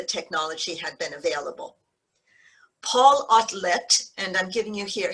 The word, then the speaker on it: Otlet: had been available paul outlet and i'm giving you here he's belgian so i'm giving you the belgian pronunciation rather than the french to do this politically